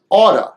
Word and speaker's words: ought to: Ought to is usually pronounced as oughta, oughta, oughta, oughta.